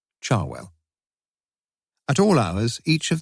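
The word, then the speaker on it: Cherwell: main Banbury Road and the river Charwell, pronounced by most of the locals, Charwell.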